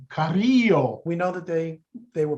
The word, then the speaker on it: Carrillo: So anyway, what happened I'm going to use the Spanish pronunciation, Carrillo.